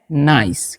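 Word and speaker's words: nice: तो इसे हम नीचे नहीं इसे हम पढ़ते हैं नाइस।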